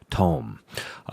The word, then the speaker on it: Thom: we started recording that if I want to sound like a sophisticated German I would pronounce it Dr Tome his book is called